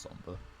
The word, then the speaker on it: Sombre: That's not actually how you say it, it's just Sombre.